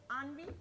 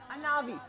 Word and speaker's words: Anavi: Okay, she's pronounces it Anvi? Anavi. Okay, it's written as Anvi, so I'll write it. I'm sorry about that. It's Anavi.